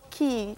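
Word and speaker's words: Quay: Yes, Key, Q-U-A-Y, spelled but pronounced Key, from Australia.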